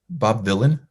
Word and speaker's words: Bob Vylan: So current bands from here, Bob Vylan with a V, spelled like Dylan, but with a V.